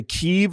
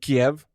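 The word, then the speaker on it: Kyiv: Is that the correct pronunciation? Lutu. Yes. It's like now we know how to say Keev instead of Kiev.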